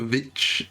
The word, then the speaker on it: VVitch: This is the Witch, or is it the Vitch with two V's? I don't know. That's how it's spelled, but I think there's just like a graphic design thing. It's the Witch, right?